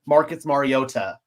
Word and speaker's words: Mariota: If you watch the intro, he actually pronounces it Marcus Mariota.